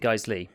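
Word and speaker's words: Geissele: I think you pronounce it Geisli, but I'm no firearm expert, so it looks like Geisel, but I think it's Geisli.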